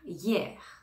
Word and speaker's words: hier: tu le connais hier attention ici on entend bien le r hein donc c'est un